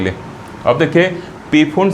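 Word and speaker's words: Pfund: के लिए अब देखिए फंड सीरीज क्या होगा ठीक पी साइलेंट है ठीक अपने दिमाग में पूर्ण रखिएगा लेकिन ये जरूर दिमाग में एक चीज रखिएगा की पी से शुरू होता है इसीलिए बीपी वाला शब्द मैं उसे किया ठीक ताकि दिमाग में तो इसको क्या कहेंगे पूर्ण सीरीज के आएंगे जहां पी क्या साइलेंट है तो अब क्या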